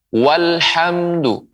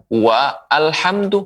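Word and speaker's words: وَالْحَمْدُ: Namun apabila sebelumnya ada huruf waw misalnya, walhamdu. Walhamdu, bukan wa alhamdu, salah, keliru. Bukan wa alhamdu, tapi pengucapannya walhamdu. Walhamdu, dan begitu seterusnya.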